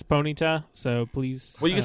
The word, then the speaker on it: Ponyta: Pita I mean it's it's a pronunciation thing you can say it however you want to um except for that's you're saying it wrong corpin it is Ponyta so please well you